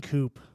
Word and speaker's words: coup: An exciting coup. It's pronounced coup.